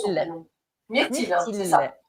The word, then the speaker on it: Myrtille: Comment on le prononce son Myrtille. prénom? Myrtille, hein, c'est Myrtille.